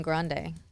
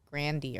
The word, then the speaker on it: Grande: her name's not even Grande I heard her say on a talk show that it's pronounced Grandy or something minut minut her real